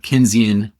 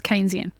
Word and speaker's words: Keynesian: It's called a a Kinzian beauty contest. No, I know what Kenzian Oh, that's Keynesian.